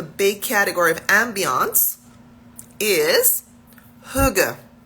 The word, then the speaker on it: hygge: So the first topic under the umbrella, under the big category of Ambiance, is Huga. Huga, Huga, Huga. And that's spelled Hygge.